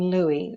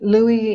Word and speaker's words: Louie: is the Mandarin version of my last name, Louie. Louie is the Americanized version. In my family's dialect, it would be Loi. But the Italians at the immigration center couldn't pronounce Loi, so that's how we became Louie.